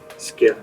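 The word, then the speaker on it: skyr: This cheesecake is made out of is it called skiir? Skir, which is the uh Icelandic yogurt which is very very thick, tart, and wonderful.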